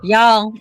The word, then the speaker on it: y'all: all right no no say it like ball y'all y'all y'all I'm sorry there you go one syllable are y'all yeah you